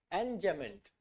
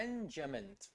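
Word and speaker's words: enjambment: तो इससे आप पहला कौन सा है, एनजेमेंट। देखो यहाँ पे ना ये एम बी साइलेंट से होता है, तो इसे एन और ये एन जैसा साउंड करते हैं, एनजेमेंट एनजेमेंट ऐसे आप इसे बोलेंगे।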